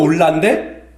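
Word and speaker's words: עולה: 번제라는 것이 올라인데 그 뜻이 올라가다예요. 발음도 올라인데 그죠? 발음이 올라예요.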